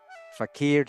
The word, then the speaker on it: fakir: Fakeria with the accent on the last syllable. It comes from the Arabic but you know you guys see meaning poor man. The Oxford English dictionary defines fakir to mean properly an